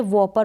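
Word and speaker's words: whopper: पर ऐसा नहीं होता, स्पेलिंग WHO से स्टार्ट हो रही है लेकिन फिर भी हम W को प्रोनाउंस कर रहे हैं, W का उच्चारण हो रहा है, जैसे कि ये तीनों स्पेलिंग है यहाँ पर, इसको हमने वॉपर पढ़ा, यानी W का उच्चारण व करके होता है तो हो रहा है यहाँ पर, इसको पढ़ा वॉपर।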